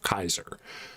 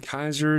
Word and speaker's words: Caesar: Julius Caesar probably would have called himself Kaiser with a hard C.